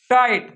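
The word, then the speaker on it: tight: जी एच का उच्चारण नहीं होता। ये क्या हो जाता है? साइलेंट होता है। लिखते भले हैं पर क्या होता है? ये साइलेंट। जैसे क्या लिखा है? टाइट।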